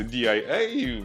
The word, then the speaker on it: Дія: ну короче вона називається diaia Мені здається Воно читається як дія Ну але транслітерація нашої дії так ось вони запустили